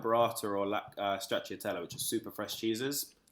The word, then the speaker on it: stracciatella: Like, I remember having the, now I'm not going to be able to pronounce it right, the stracciatella?